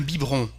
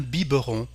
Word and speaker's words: biberon: We say un biberon, so we don't pronounce the little E here, un biberon. But you may hear in France un biberon too.